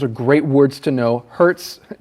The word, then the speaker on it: hertz: great words to know hertz kind of sounds like when you get hurt but it's spelled h-e-r-t all right and then